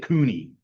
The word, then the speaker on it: Konya: Uh Jeff uh I said Cooney. Yes. Like a like a like a raccoon, right?